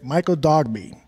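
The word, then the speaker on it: Michael Dogbe: I want to move now to Michael, and correct me if I'm mispronouncing the last name here, Michael Dogby.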